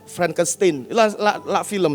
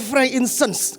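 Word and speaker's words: frankincense: yang dankan kan kemenyan bahasa Inggrisnya Frank insens ya Saya baru belajar bacanya saya dulu sering salah franktin film ya ternyata Frank insens ke atasnya Kalau anda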